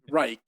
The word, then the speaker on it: Reich: psychiatrist Wilhelm Reich, who, I won't do the Reich pronunciation each time, but I thought just once of Reich, in English, who was a Viennese